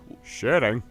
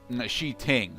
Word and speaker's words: Shi Ting: Shitting. Shi Ting, okay? I understand. I understand it's spelled shitting, but it's Shi Ting, okay?